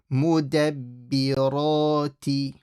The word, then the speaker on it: مُدَبِّرَاتِ: So again, the shadd on the ba. Mudabbirati. And then amra.